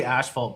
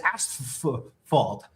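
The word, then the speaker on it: asphalt: When Chase when we say ashalt, people get mad. It's ash fault.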